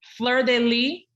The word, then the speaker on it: Fleur de Lis: to know how people pronounce their names how pronounced your last name florenville Flur de Lee uh the New Orleans Saints um emblem Flur